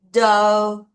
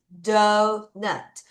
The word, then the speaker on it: doughnut: 다시 donut. 다시 donut. 마치 GH는 입 모양만 우 발음으로 유지를 하고요. donut.